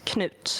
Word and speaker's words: knut: Uh, they are never silent. Canute. It's canute and kut.